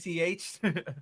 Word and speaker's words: Lich: Like, do you mean a lick? like a lick, no, he's like Lich.